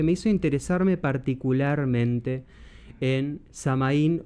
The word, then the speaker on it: Samhain: hizo interesarme particularmente en samaín o soin un término que voy a usar intercambiable porque es lo mismo soen es la pronunciación gaélica irlandesa de samaín samaín es como le llaman